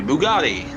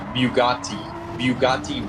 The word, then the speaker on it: Bugatti: that can be OP at times, like the Bugatti or the Tomahawk, or different ones.